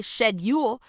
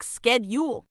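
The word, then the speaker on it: schedule: where things get fun in the UK we say shedule but in the US it's more like skule a little difference but a big impact on how people hear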